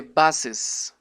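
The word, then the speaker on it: bus's: Y la cosa es que se pronuncia the buses engine. No, ya no se pronunciaría bus, sino buses, para que se entienda que estamos usando un posesivo.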